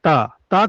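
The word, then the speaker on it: ت: এরপরে দেখুন তা কোথা থেকে উচ্চারণ হয়?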